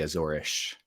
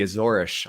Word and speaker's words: Azores: pronounced azorus which is Portuguese you would say azorish they say ish for their s's we you and I